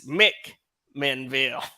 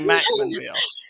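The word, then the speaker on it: McMinnville: and then he says it's mick menville so but the locals say mackmanville uh but um you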